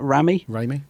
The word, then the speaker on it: Raimi: Oh, you'll know how to pronounce that. Raimi, yep.